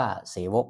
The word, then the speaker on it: เสวก: สามัคคคี เสวก นะ ครับ ออก เสียง ว่า เสวก นะ ครับ บท เสภา สามัคคคี เสวก